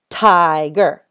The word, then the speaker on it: tiger: So if you have the word tiger, tiger, tiger. You see the syllable break is right here. It breaks it right here. And the first part, it ends with a vowel. It has an I. So this I needs the long sound.